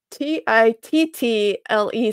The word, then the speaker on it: tittle: Lanny says it's spelled T-I-T-T-L-E. So kind of like little, but with a T instead of an L at the beginning.